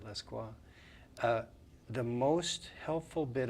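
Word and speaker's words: Lescroart: know uh his name obviously French it it looks like Lesco art but he pronounces it pronounces it lequa uh the most helpful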